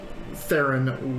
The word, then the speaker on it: Theron: and to avoid confusion we said the Theron with a hard T and Taryn instead so